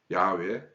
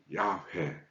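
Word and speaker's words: Yahweh: 그래서 이거를 이제 소리 글자로 읽게 되면 야외, 야회 이런 식으로 이제 발음이 되죠.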